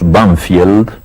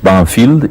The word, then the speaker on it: Banfield: Sí, en uno de los suburbios de Buenos Aires, que nosotros pronunciamos Banfield, pero que tiene un nombre inglés, Banfield, y ese nombre inglés